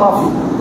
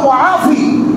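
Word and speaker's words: مُعافي: আসলে ওইটাও ঠিক আছে, উচ্চারণ ভুল। আল্লাহ মুআফি, মুআফি যদি বলা হয় তাহলে সে আল্লাহ আরো করতে হবে, কিন্তু কি বলে আল্লাহ শাফি, আল্লাহ কাফি, আল্লাহ মাফি।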